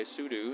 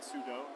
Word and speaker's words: sudo: And thought, okay, sudo is do a super user thing.